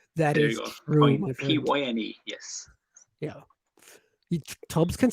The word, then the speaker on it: Pyne: Tom says, pronounced like pine. There's enough pain in this word. That is true, my friend. Pyne, yes.